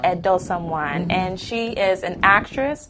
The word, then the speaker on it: Esosa Edosomwan: Did I pronounce that correctly? Esosa Edosomwan. Edosomwan.